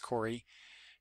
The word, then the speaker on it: Cory: was writer and Cory I think it's pronounced Cory it's Kor a why but I'm pretty sure that you would say that it's Cory Coronel that's the artist